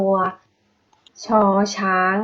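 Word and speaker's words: ช ช้าง: คะ เป็น พยัญชนะ ตัว ชอ ช้าง นะ คะ อะเดะ อ่าน ตาม เฟิ่ง นะ คะ ชอ ช้าง อ่าน ว่า ชอ อีก 1 รอบ นะ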